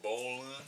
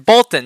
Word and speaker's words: Bolton: You're saying Bolin. I'm saying Bolton. Bolton. Justin Fields. Bolton. Bolton. I'll pronounce my T's.